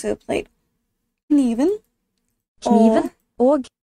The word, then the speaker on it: og: Og. You kind of hear the G at the end, but it's soft. Not ugh, it's og.